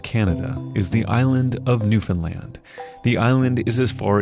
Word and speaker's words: Newfoundland: And nice pronunciation of Newfoundland, by the way. A lot of people say Newfoundland, and it's a bit of a sore spot with us locals.